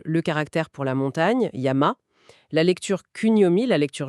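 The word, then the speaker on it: やま: Par exemple, le caractère pour la montagne, Yama. La lecture Kunomi, la lecture japonaise donc c'est Yama.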